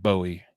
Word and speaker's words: Bowie: I was like, how do you pronounce Bowie? It looks like Bowie, Maryland.